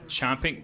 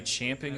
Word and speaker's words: champing: fort did you know it's not chomping chomping at the bit that's supposed to be champing at the bit no here's the